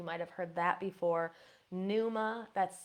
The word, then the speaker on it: pneuma: Pneuma, that's spelled P-N-E-U-M-A.